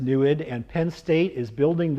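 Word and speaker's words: NEID: That's the Native American name, pronounced NUID.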